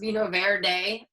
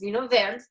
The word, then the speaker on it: Vinho Verde: is becoming super trendy, it's not pronounced Vinho Verde. Everybody wants to pronounce it that way. So just a little insider tip that it's Vinho Verde.